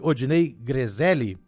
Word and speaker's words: Odinei Grezelli: Odinei, pronunciei certo o seu nome? Odinei Grezelli? Correto, tá certíssimo.